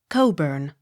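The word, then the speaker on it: Cockburn: b u r n coburn ck not sounded c o l q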